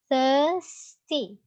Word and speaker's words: thirsty: So, mostly the words in this dialogue using sound For example, nurse, nurse, thirsty, thirst, here. You may not to pronounce R here, so just say it thirsty.